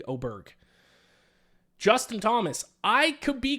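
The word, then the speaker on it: Åberg: I'm out on Ludvig Oair. Um oh actually I saw a video he wants me Oberg. He wants the the hard G to be pronounced Ludvig Oberg.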